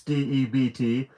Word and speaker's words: debt: Ninja for out loud it even has a silent B in this in the word there's only four letters and one of them is silent seriously ninja alert if